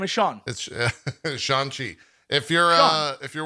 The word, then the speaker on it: Shang-Chi: catch that sean yeah his name is sean shanxi if you're uh if you're worried about spoilers